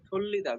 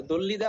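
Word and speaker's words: 돌리다: একেক কোচিং এ পড়েন এটারে অনেকেই দ উচ্চারণ করবেন কোন সমস্যা নেই দ্বিগু শব্দের শুরুতে বসলে থ হয় বেশিরভাগ সময়ে উচ্চারণে এ শুনে দেখবেন তো দল্লিদা অথবা থল্লিদা মানে হলো ঘরানো আর এই দুইটা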